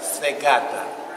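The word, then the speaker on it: į sveikatą: Svegata.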